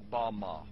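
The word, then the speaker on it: במה: The Hebrew word used in this text for the heights from which Satan fell is Strong's Hebrew word 1116, pronounced Bama.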